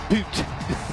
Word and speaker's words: but: Boot.